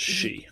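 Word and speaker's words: 四: it is uh yes because it sounds like the word for death which is she yes so that's not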